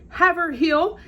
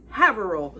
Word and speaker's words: Haverhill: The next word I would pronounce as Haverhill, and I was told that is exactly incorrect. It is Haverhill. So that's different.